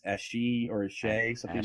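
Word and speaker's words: Ashe: Even though I want to call the companion Ash, I'm guessing it's Ashi or Ashay, something like that. Aishi. Aishi. Really? Aishi. That's right. Man. Yeah, it's Cell.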